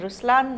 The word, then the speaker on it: Ruslaan: So even in Ruslaan, when you say Ruslaan also means the lion, it's the attitude of a lion, but the right pronunciation is Ruslaan.